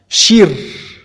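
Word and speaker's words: שיר: palabra canto o cantar se escribe y se pronuncia dentro del hebreo como Shir.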